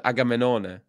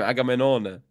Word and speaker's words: Agamenone: Yeah, I know, but it's spelled Agamemnon. It's Agamenone. In Italy, yeah. No, that's how you say his name, Agamenone.